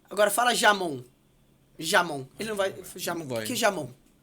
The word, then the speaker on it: jamón: Em espanhol se diz jamón. Jamón. Se escreve com J.